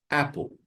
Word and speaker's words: apple: Here we have double P, but we pronounce only one P sound. So it's apple, just one.